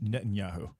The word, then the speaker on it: Netanyahu: the and not to know who if I'm pronouncing his name correctly from Israel when he got reelected when he tried you did Netanyahu there you go and and and he interfered